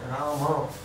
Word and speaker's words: Rama: And Rama also should not be pronounced like Ramo or In Bengali is like that? no. It is Rama. Even Ram is not correct. Ram, when you say Ram, it is only half.